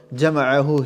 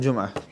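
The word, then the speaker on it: جمعه: Right, instead of Jama'ahu, he read it as Jum'ah. Because it's spelled similar. And he says it's Jum'ah Bukhari.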